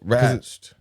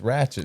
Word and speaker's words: Ratched: Yeah, Ratched. No, it's Ratchet. I didn't like pronouncing it like that.